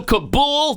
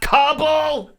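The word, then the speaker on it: Kabul: If you want, it's also Kabool, not Kbble.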